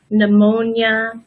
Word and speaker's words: pneumonia: just like in Spanish we also have the silent P for the words that come from when pneumonia psychology and pterodactyl the